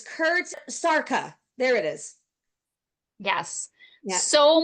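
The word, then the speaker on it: Szarka: SS and how do you say it's Kurt Sara there it is yes so many great names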